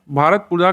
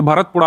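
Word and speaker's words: ഭാരതപ്പുഴ: तो ये मलमपुड़ा नदी पर स्थित है, भारतपुजा की ट्रिब्यूटरी है। जैसे भारतपुजा लिखा जाता है इसको, लेकिन तमिल में अगर इसको प्रोनाउंस करेंगे तो ये भरतपुड़ा आता है।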